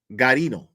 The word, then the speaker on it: Guarino: There's the U, there's no Gua? like Guajiro, even though the G is silent in Guajiro. So Garino. Okay, Garino it is.